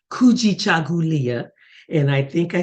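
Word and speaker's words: kujichagulia: the second principle is kuji chagulia that's a little harder and I'm going to say it slowly cool g cha if you saw the word written it's written just like it sounds in syllables can you say that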